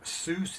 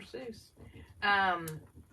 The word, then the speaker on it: Seuss: Seuss. Is that how you say it, Lisa? Right. That's right. Dr. Seuss.